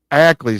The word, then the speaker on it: Ackley: And one slight correction. It's Ackley. Ackley. See, there I just get a virtual slap in the face for saying the name wrong.